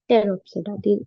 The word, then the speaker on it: Pteropsida: So there are divided into four classes: Psilopsida, Lycopsida, Sphenopsida, and Pteropsida. P is silent. So Psilopsida, Lycopsida, Sphenopsida, and Pteropsida.